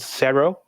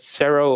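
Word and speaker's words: CERO: the japanese rating system is a organization called cerro it's spelled c-e-r-o whenever you release a game on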